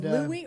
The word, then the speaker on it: Louis: And then I found in the trash can some Louis Armstrong, that's the proper pronunciation. Just I want you to know I'm just one of them snob guys. So it's Louis or Louis?